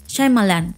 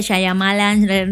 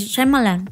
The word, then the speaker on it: Shyamalan: que la gente se ha inventado formas de pronunciar yo ya vi como él se presentó a sí mismo y es shalan o sea no sé por qué mucha gente dice shyamalan no sé qué es enre que lo lees